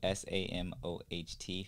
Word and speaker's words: Samoht: And then that's spelled Samoht for those of y'all that don't know, because, you know, people gonna spell it. So people gonna be out here spelling it wrong. So yeah, the T is silent, guys.